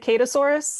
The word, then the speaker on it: Kadusaurus: correctly i was saying kadusaurus that works um we pronounce it catasaurus because like obviously yeah but besides kadusaurus